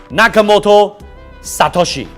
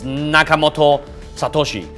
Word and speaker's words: Nakamoto Satoshi: Japanese he says that you should pronounce it like backwards the last name first and then the first name so it's Nakamoto Satoshi so someone literally found this person he's living in u.s.